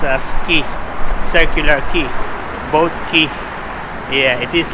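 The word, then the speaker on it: Circular Quay: here in Sydney and I realize that is pronounced as a circular key both he yeah it is like that we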